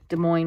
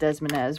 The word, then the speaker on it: Des Moines: I was growing up, I thought Des Moines was pronounced Desmonez, which is pretty hilarious.